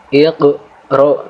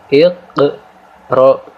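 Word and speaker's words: اقْرَأْ: dengan qalqalah sughra, yaitu kita baca huruf qaf di sini dengan cara menekan dan sedikit memantul sehingga jelas qaf mati di sini. Maka cara membacanya itu iqra bismi rabbik, ya.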